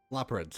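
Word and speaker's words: Loporrits: Laprids.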